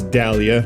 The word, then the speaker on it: Dahlia: And, yeah, I realize I’m probably saying that wrong, ‘cos everyone says “dallia,” not “dah-lia.”